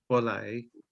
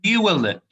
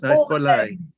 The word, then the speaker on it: Borley: Some people get my surname wrong, of course, but it's Borley, as it is not with end with a Y.